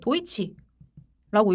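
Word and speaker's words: Deutsche: 경우 산탄데르 아고 읽고요 얘는 독일어입니다네 도이치라고 읽어요네 뭐 중요한 건 아니긴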